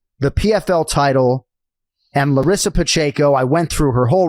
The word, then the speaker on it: Pacheco: upset in modern mixed martial arts history Larissa Pacheco am I pronouncing that correctly yes you got of course